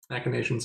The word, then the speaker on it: machinations: machinations one would say i might have been pronouncing that correctly i've never heard it spoken that's correct machinations is correct oh it'll be bugle